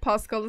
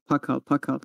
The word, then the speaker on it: Pakal: Demek Pascal'ı sevdiniz ha. Ay be. Pascal değil. Pakal bir kere Ay harbiyle Pascal bir ne kız?